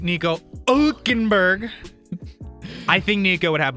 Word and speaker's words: Hülkenberg: 2 points behind him is Nico Hülkenberg on the best year. Wait, you're not saying it right. Nico Hülkenberg.